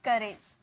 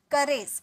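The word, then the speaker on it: courage: उसे हम कहते हैं करेज करेज यहां पे र का साउंड आएगा ठीक है आर ए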